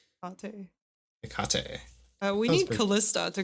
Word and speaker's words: Hekate: Hecate? It's Hekate.